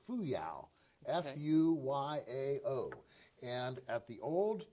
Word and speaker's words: Fuyao: There's a Chinese company, and I believe you pronounce it Fuyao.